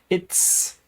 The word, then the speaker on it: it's: It's is a s sound, so it's working.